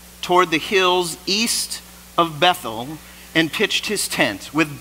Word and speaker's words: Bethel: a hill located between Bethel in hayi so he finds a high spots right between Bethel and a Bethel and the Hebrew is pronounced beth-el it means the house of God an AE means heap